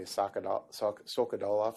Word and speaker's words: Sokolov: Pretty much the same way, Sokolov.